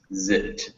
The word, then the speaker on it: zipped: whenever you see those English verbs in the past tense with that ed, it's written ed, but it's just pronounced like a d.